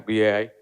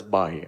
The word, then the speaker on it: BAI: was sitting here, and I was wrongly pronouncing all these years as Bai, and he told me, Bai എന്ന് വിളിച്ച ബംഗാളിനെ ഓർമ്മ വരും അതുകൊണ്ട് BAI ആക്കിയിട്ടുണ്ടെന്ന്. So thank you for correcting me that.